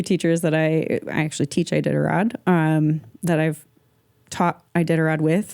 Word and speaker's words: Iditarod: The Iditarod. Iditarod.